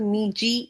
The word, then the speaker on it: Meiji: Would read about the मीजी revolution. हम लोगों ने उसमें भी पढ़ा था इंट्रोडक्शन में जो मेजी है इसको हम लोग मे एम ए वाई मे J double E ji pronounce करते हैं।